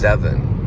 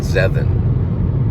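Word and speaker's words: Zevon: to Werewolves of London I think it's pronounced seven so Warren zevin was the writer of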